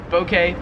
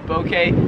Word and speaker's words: bouquet: video 46 is bouquet so i say bokeh but like a soft o bouquet here in australia they would pronounce it bouquet a bouquet of flowers